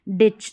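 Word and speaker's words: ditch: डिच। तो यहां पर भी टी साइलेंट है।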